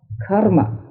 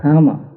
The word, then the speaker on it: karma: And you pronounce karma, not karma, because in Sanskrit the R must be pronounced.